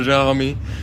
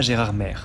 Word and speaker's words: Gérardmer: vient le nom de gérarmé très bonne question mon Flo mon cher Jami je préfère Flo pourquoi prononce-t-on Gérard m non pas Gérard mè et bien il y